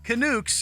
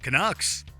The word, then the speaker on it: Canucks: mispronunciations during the segment the reporter said Bruce bodro instead of Buro touit instead of Rick tet and most famously kuks instead of Canucks we guess these are